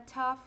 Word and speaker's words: tough: Então, T ou a única palavra em que ele vai ter som de A e a única palavra em que ele vai ter som de F.